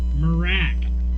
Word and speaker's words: Mrak: How do you pronounce the name of your band? Marak. That's what I thought. Marak, yeah.